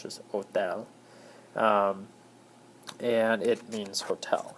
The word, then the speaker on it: hotel: mentioning the word o the H is silent you don't pronounce that it's just Hotel um and it means